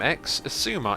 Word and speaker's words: Xisuma: X Asuma is how I say it. You can pronounce it however you like, though.